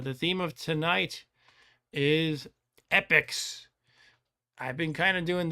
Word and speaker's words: Epyx: play games by epics no not not that kind not epics the plural of the noun epics it is spelled like this epics I know you know Stu but in case anybody might be confused out there now now they know um epics yeah they're